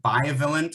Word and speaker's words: bivalent: uh it's going to be either monovalent or violent i might be mispronouncing it b-i-v-a-l-e-n-t that's the more likely type